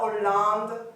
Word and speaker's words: Hollande: On va dire la Hollande, d'accord? Donc ça, c'est un H aspiré. Pas d'élision, pas de liaison. C'est une consonne à part entière.